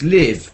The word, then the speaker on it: live: and live because Civ we know it's live because of Civ and the rhyme Civ live and uh leave and